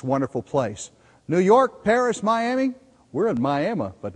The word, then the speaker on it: Miami: theater in downtown beautiful Miami Oklahoma or I should say my Oklahoma as it's pronounced here you would think you